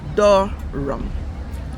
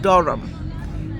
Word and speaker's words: Durham: is said love butter another one is door rum doram as he's written there you can see but no that hedge is silent so it's Durham that place that is